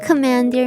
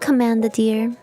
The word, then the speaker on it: commandeer: Please explain what commandeer means. Means to make something? Oh. So not command the deer. Command the deer off my lawn? I'm just kidding. Commandeer. Oh. Oh, okay. It's pronounced different.